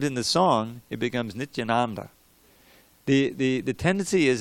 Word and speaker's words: Nityananda: little pronunciation drill so that reason learn to pronounce the word nityananda right tell you she Krishna jatin baboon each Anand but what is that mission on everyone says a lot of people they Mitch Ananda but it's Nithyananda now let's say let's let's